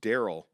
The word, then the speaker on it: Darrell: says, not sure why my parents spelled my name like that, but it's pronounced Daryl.